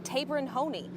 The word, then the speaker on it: Taberon Honie: name from his mother she's corrected our pronunciation it's tabin Hony and we will respect